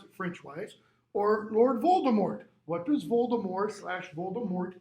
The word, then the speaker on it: Voldemort: what his greatest enemy lord voldemort if you want to pronounce it french-wise or lord voldemort what does voldemort slash